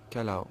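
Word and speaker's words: calao: hornbills in French would be your color you spell it c a l a o quite a nice name for about kalau c-a-l-a-o and obviously we've got three species of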